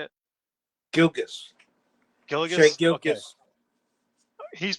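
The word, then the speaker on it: Gilgeous: Shea Hilgis Alexander. Is that how you say it? Gilgis.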